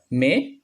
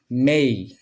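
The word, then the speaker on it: may: 4 নম্বরটা দেখি, 4 নম্বরটা আগে আমরা এটা উচ্চারণ করতাম মে, এখন আমরা এটা সঠিকভাবে উচ্চারণ করব মেই, মেই, মেই।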